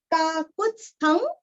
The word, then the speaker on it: काकुत्स्थं: काकुत्स्थं, काकु पूरस्व और आधा त, आधा स, थ पूरा बोल के अनुस्वार का उच्चारण वांग्मय का ग।